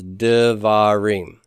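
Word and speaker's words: דברים: And so davar becomes devarim.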